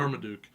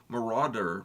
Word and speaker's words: Marauder: pronounce the last name marmaduk no it's not Marmaduke it's Marauder maraud Marauder I I know